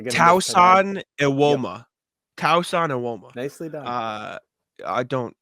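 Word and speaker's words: Tosan Evbuomwan: Tauson Iwoma. Nicely done. I don't say that. I'm looking at Basketball Reference pronunciation guide.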